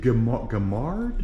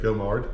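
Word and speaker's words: Gaumard: Now you said Gamard? Yeah, Gamard. Gamard. How do you spell that?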